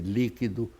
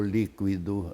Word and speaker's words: líquido: É o exemplo seu, você pode dizer líquido ou líquido, não é?